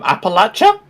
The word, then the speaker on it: Appalachia: flag I'm going to ask Howe how to pronounce that word um Appalachia yes thank you for saying that correctly but